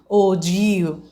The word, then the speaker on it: ogive: new uh graph representation which is known as ogu what is it ogu okay this is looks like okay but its presentation pronunciation is og okay we are going